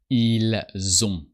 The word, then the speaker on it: ils ont: O-N-T. And the T is silent. And you hear that we pronounce the S of il and elle when the following word starts with a vowel. And you hear that this S sounds like a Z.